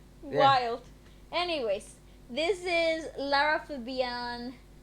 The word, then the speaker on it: Lara: can I just say la ra? No, I don't think. I've never heard a French person say that. La ra, like that. No. Gosh. Will she get annoyed if I say her name wrong? Probably not. She seems like a very polite lady. She will probably tell you, actually, my name is Lara.